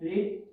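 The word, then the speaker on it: read: पढ़ने को बोलते हैं रीड, रीड की तीनों फॉर्म ही क्या होती है, रीड, लेकिन प्रोनाउंसिएशन इनका अलग अलग होता है। प्रोनाउंसिएशन के अंदर क्या होता है, रीड रेड रेड।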